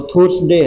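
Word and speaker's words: Thursday: इसको लोग बाग थुर्स डे नहीं पढ़ते, थर्सडे पढ़ते हैं, क्योंकि थुर्स डे अच्छा सा नहीं लगता, कई बार अच्छा लगने के ऊपर इसमें प्रोनाउंसिएशन हो जाता है, तो थर्सडे बोलते हैं।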